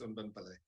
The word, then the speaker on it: Unben Pillay: So here is Unben, but you can correct me if I pronounce the name very well. Over to you, Doc. Thank you, Foster. No, the pronunciation is perfect. It's Unben Pillay.